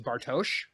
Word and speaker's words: Bartosz: love the most about Bartos is the fact that we've been calling him Bartos and it's bartosz and you know I